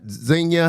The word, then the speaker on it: Zeno: Am I pronouncing that right, Pat? Zeno? I think I am. Yeah, you got it.